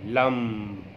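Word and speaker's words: लं: ल और म जब कहेंगे तो ल जल्दी कह के म को खींचना है।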